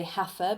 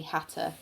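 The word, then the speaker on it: hatha: even spell it's h-a-t-h-a so lots of people say hafer but it's actually hata yoga this is kind of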